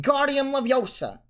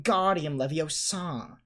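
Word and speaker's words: Wingardium Leviosa: arms like a windmill you're saying it wrong harry heard hermione snap it's when guardian levio saw make the gaw sound nice and long then you'd do it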